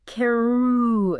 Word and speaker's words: Karooooo: We are talking about Keru.